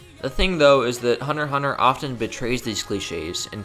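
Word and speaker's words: Hunter × Hunter: Hunter x Hunter, yes, the X is silent, is at the same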